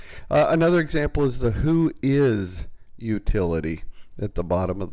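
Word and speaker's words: WHOIS: is and it's it's the phrase is pronounced who is even though it's written as one word is a query and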